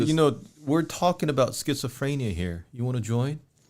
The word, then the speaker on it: schizophrenia: You know, we're talking about schizophrenia here. You want to join? Is that the correct pronunciation, Mr.